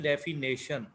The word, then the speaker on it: definition: इसके स्पेलिंग भी, क्योंकि इसको प्रोनाउंस हम करते हैं डेफिनेशन, लेकिन ये असल में लिखने में आता है डेफिनीशन, DEFINITION। इसमें ए नहीं है इस वर्ड में, तो आपने इसको ऐसे प्रोनाउंस तो डेफिनेशन ही करना है, और लेकिन इसमें ए नहीं लिखना है।